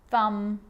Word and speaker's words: thumb: M climb Krum lamb thumb dumb and plumber so practice them with me I'm not pronouncing the B I'm just pronouncing the M consonant sound climb Krum lam some